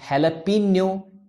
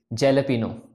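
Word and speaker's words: jalapeño: यह है pizza with हैलापीनो चीज डिप। पिज्जा ना कि पिज्जा, और हेलपिनो ना कि जेलपिनो लोग बोलते हैं इस तरीके से, क्योंकि ये दोनों ही फॉरेन लैंग्वेज वर्ड्स हैं।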